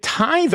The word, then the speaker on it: tithe: At the end of every 3 years, bring all the tithes. Is it tithe or tithe?